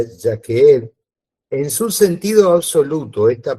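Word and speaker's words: יחיד: Que se utiliza por uno, es la palabra, se la deletreo, Y-A-C-H-E-E-D, ¿no? Que se pronuncia Yaqueed.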